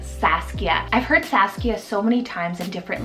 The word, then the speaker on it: Saskia: Then second one here is Saskia, so S-A-S-K-I-A, Saskia. I've heard Saskia so many times in different like anime series and like cartoon shows, and I've always loved it.